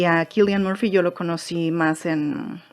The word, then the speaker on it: Cillian Murphy: No sé si voy a pronunciar bien su nombre, pero el actor, el protagonista, ¿se pronuncia? Cillian Murphy. Parece que él dice que así se pronuncia su nombre.